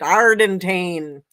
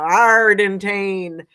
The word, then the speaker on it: Ardantane: And she says, like a pirate, Ardantane. You won't ever forget it now, Ardantane.